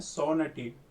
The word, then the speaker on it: sovereignty: सोवर्निटी, इसको बोलते हैं सोवर्निटी, जी इसमें साइलेंट रहता है।